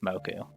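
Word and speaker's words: 木: I'm familiar with at least moku. You probably noticed that this kanji has a lot of pronunciations. There are 2 konyomi pronunciations, ki and ko, and 2 onyomi pronunciations, boku and moku.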